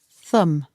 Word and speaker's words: thumb: four fingers and one thumb again be careful the pronunciation and the spelling are different the last letter B is silent thumb I hurt my